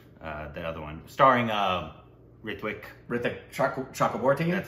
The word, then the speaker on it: Ritwick Chakraborty: Ritwick Chakraborty. That's how you pronounce that, right?